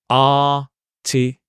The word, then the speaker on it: artificial: Although it looks like a s, you can see here it's a sh sound. And it's a r. Artificial. When you practice this, I suggest, that what you do when you practice, slow down. Artificial. Artificial. Artificial. The stress is on the R.